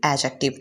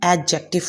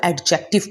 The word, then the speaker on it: adjective: इसे हम एडजेक्टिव पढ़ते हैं. बहुत सारे स्टूडेंट्स इसकी प्रोनाउंसिएशन में ही मिस्टेक कर जाते हैं और इसको एडजेक्टिव पढ़ जाते हैं जो कि गलत है. सो इसको सही से प्रोनाउंस करना बहुत इंपॉर्टेंट है. सो नेक्स्ट टाइम इसको जब भी कहें इसको एडजेक्टिव कहें.